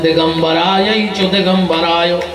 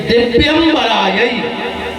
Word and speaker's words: दिव्यंबरायै: तो जल्दी जल्दी में लोग गाउत है दिगंबरायै च दिगंबरायो, जबकि ये गलत है। अगर कोई मंत्र ना आए तो मत बोलना, चुपचाप सुनते रहो, क्योंकि उसके गलत परिणाम भी हो सकते हैं। शुद्ध उच्चारण ये है कि दिव्यंबरायै, जो दिव्य आभूषणों से सुसज्जित हैं।